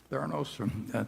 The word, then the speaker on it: Theranos: And Theranos, I think, is that the way you pronounce it, Charlie? Theranos?